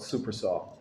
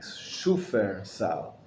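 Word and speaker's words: Shufersal: Most people call it Supersol. But it's not super. It's actually Aramaic. Shufer Sal is the proper pronunciation of it, and it's based on the Aramaic.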